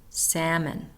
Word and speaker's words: salmon: those lamb de SLE silent L talk should salmon we're not hearing the L in those words silent s debris or